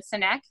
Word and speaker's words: Sinek: to sit down with simon i can never pronounce his last name right simon sinek am i saying that right yes um i